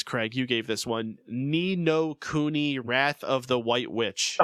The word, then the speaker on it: Ni no Kuni: Ni no Kuni, Wrath of the White Witch.